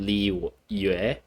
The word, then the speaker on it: Liyue: to the actual pronunciation she said li yue or ue instead of like she misses the y pronunciation she kind of just has the uh part the way but um